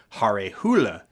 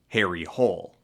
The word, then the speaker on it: Harry Hole: In Norwegian, the character's name would be pronounced closer to Hare Hule.